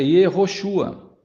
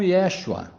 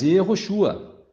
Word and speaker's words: Yehoshua: Veja o nome de Jesus, no hebraico é Yehoshua. Pode ser também pronunciado como Yeshua, mas Yehoshua. Então vejam que os nomes teofóricos começam quase sempre com erro.